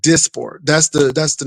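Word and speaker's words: Dysport: It's spelled D Y S P O R T, but it's it's pronounced as abundantly said Disport. That's the That's the name of it. Disport.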